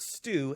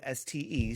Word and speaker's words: Ste: John and Ste Pickford, not Stu, S-T-E, Ste. I don't even know if I'm pronouncing that right.